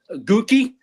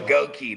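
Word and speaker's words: Goedeke: Gookie, dude. That's a up name. Goi. There you go. Goki.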